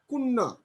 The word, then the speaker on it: কন্যা: কন্যা, কুন্না। তাহলে আদ্য অয়ের উচ্চারণ ও এর মতো উচ্চারণ হচ্ছে, কন্যা, কুন্না। কন্যার উচ্চারণ কি হবে? কুন্না।